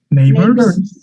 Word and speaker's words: neighbors: Esta es la famosa schwa, que quiere decir que con cara de flojera total, ajá, relajando la nariz, las pestañas, los ojos, todo, las orejas, dices, así, con cara como, estás semidormido. Esa es la schwa. Es un sonido que está flotando ahí en medio de la boca. Neighbors. Y ahora aquí está pegado con una R.